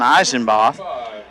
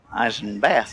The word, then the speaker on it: Eisenbath: that'll bring up Dalton Eisen Botho that's the third hit in the inning for man Hill Eisen bath they're calling him so R and bath been saying it wrong all the time he singled